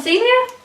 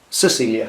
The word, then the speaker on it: Cecilia: Well done, Celia. Celia Pedersen, Denmark. Cecilia, isn't it? Should have said it right, shouldn't I?